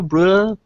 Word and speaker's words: Breuer: own your own i i always get your surname wrong your own brewer bruh in dutch excellent so uh as